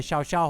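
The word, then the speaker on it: Llao Llao: panoramic view from the Xiao Xiao hotel which is spelled llau which is two house but they call it shout Chow its most incredible hotel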